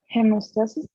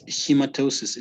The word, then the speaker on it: hematosis: one hemostasis uh no read it please again hemostasis no no it's hematosis there's a difference between